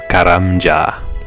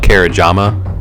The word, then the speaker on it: Karamja: So now we get to take a little trip to Karamja or Kerajama. I I used to call it Kerajama and that's not how it's pronounced, but that's just how